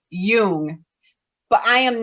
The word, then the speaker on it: Jung: can you say pronunciation i believe the proper pronunciation is young but i am not